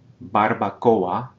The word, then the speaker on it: barbacoa: Barbacoa, barbacoa. At the end of this word, we're separating that vowel combination into two distinct syllables. Barbacoa, because it's a strong vowel combination.